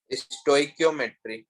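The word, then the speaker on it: stoichiometry: Can you pronounce it again? स्टोइकियोमेट्री, कियोमेट्री, स्टोइकियोमेट्री भी बोलते हैं, स्टोइकियोमेट्री भी बोलते हैं, अपना अपना हुआ है, ठीक है।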